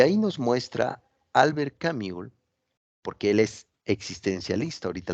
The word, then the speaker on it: Camus: bueno se llamó Albert camul se escribe Albert camus pero se pronuncia camul eh él pues se